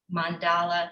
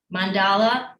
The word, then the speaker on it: mandala: And then we're going to do a very quick mandala study. I actually looked up the pronunciation of mandala. Mandala, and it's also mandala. So, but I call it a mandala.